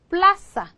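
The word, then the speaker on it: plaza: 거예요 얘에 오는 거예요 그래서 읽으실 때 여기를 강하게 플러스 플라사 이렇게 강세를 둬서 읽으셔야 된다는 거죠 그렇죠 예를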